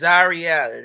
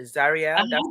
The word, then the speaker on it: Zarielle: I know it's exotic, but it's Zarielle. A lot of people call me. Plot twist. That is, now see, it's Zarielle. Zarielle? Zarielle. Thank you, Mama. Excuse me for the mispronunciation. I usually do really well much better. So Zarielle, Mhm. can I Yes. say it like that?